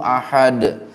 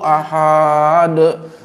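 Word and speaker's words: أحد: Al-Ikhlas misalnya qul huwallahu ahad. Aslinya itu kan pendek. Ada juga bacanya qul huwallahu ahad. Ahadnya panjang. Biar keren.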